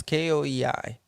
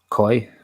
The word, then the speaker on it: Koei: How do you pronounce it? Is Koei. Koi. Koi. Yeah, I think it's Just say koi like the fish.